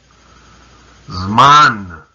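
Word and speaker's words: זמן: Zman.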